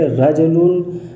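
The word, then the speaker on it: رَجُلٌ: تنوین رفع کہیں گے، جس کا تلفظ رجلن ہے نون کے ساتھ، یعنی تلفظ کیا ہے نون کے ساتھ ہو، رجلن یعنی نون کے ساتھ ہوتا ہے۔ رجلن کا تلفظ نون کے ساتھ ہے لیکن لکھا نہیں جاتا ہے، پڑھا جاتا ہے لیکن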